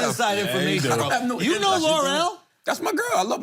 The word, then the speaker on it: Lore'l: You know L'Oreal?